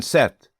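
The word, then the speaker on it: sept: Seven set.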